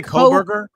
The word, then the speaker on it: Kohberger: I can't pronounce the last name. Is it I say Coberger.